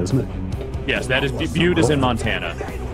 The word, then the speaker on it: Butte: ] Rolling Stock here Butte is that how you pronounce that you cute yes that's Mike that's that's in Montana isn't it yes that is Butte is in Montana like